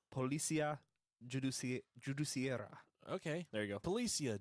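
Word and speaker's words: Polícia Judiciária: At 11:10 p.m., detectives from the Policia Judicia. That was the most gringo pronunciation Is that ever. right? Policia Judiciaria.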